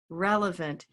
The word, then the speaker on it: relevant: Relevant. Where's that stress? First syllable, okay?